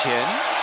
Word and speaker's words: Chen: Chen in now I'm saying it close to the same pronunciation in English but in Mandarin it's chin and Chun way thr with that